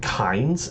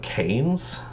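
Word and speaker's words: Kains: of three these days did he just pronounce it KES instead of canes just the person I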